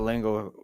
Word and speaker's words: Lingle: Jimmy Barr, Alexander Hyder, Lingle, Cody Vaughn, Mike Burnett, Paul Hatcher. It's not as funny as you think it is, dude. It rhymes with jingle.